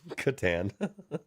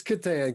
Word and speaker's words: Catan: Soft C. Oh, I'm sorry. It's Satan. Yeah, or is it Satan or Catan? It's Catan.